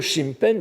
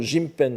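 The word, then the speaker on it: 神変: bouddhisme, lu Sho alors, le mot Shimpen, les pouvoirs divins, qu'il utilise dans la même phrase à son propos, est typiquement bouddhique. On le prononce plutôt Jimpen dans ce cas-là.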